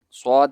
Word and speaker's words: ص: Swad is a thicker version of sin. More space above the tongue is left than below to pass more air from above the tongue. Swad is pronounced by making rounded lips like an O shape.